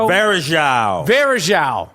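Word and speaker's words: Varejão: Varejao.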